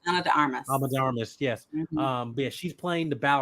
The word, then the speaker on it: Ana de Armas: I'm pretty sure I pronounced her name right. Ana de Armas. Ana de Armas, yes.